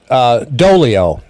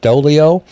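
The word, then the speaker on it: Doglio: her name is Beth doe Leo and I you know the G is is silent here let me get this over here Beth doe Leo and you know from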